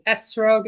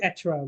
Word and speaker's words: etrog: It's Esrog, Etrog. It just depends on your.